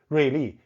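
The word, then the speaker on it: 瑞丽: Ruili is a very beautiful tropical city. The pronunciation is the same as sharp, but the character means lucky and beautiful.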